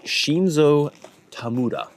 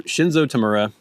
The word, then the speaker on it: Shinzo Tamura: It is Shinzo Tamura. Okay, these are going to be pretty exciting, actually. So Shinzo Tamura, if you want to use the American pronunciation,